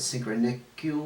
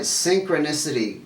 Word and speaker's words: synchronicity: Synchronicious? Synchronicious. Is that how you say the word? It's in synchrony. I'm not saying it right. Synchronicity with itself. There you go.